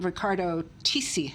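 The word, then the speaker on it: Riccardo Tisci: famous uh designer um Ricardo tii I think is the way you pronounce it and it's a fur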